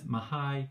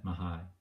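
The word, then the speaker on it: Mihaly: should have explained that his name is mahai chiksen mahai and you can remember it because you can break down his name sort of like this mahai chik sent maha it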